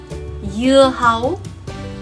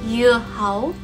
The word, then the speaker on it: dưa hấu: As you can see, in Vietnamese, dưa hấu is spelled with a D, but the sound that it makes is ya, ya, ya. Mm-hmm. In Vietnamese, when there is a D like this, it is actually pronounced ya.